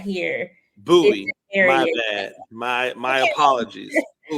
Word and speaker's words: Bowie: Sports and Bowie TV yes yes absolutely and buoy TV I know for people who are not here buoy my bad my my apologies nobody outside of